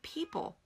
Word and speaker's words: people: What's the silent letter in the middle of people that a student wouldn't even know is there if we didn't vocalize it? Well, the O. What is that O doing in there?